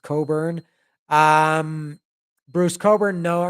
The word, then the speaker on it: Cockburn: okay Burton Cummings Bruce I always called it cockburn I know it's pronounced Coburn um Bruce Coburn no